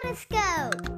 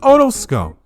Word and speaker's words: otoscope: The otoscope. It's pronounced otoscope.